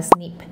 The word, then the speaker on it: SNP: Se abrevia como SNP por sus siglas en inglés y se pronuncia como SNIP, que se refiere al